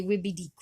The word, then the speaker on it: wibid: or you could say wibidik, wibidik. And essentially that D and the T is transferable again. You're going to hear some people call it a Wibid or a Wibid for a tooth.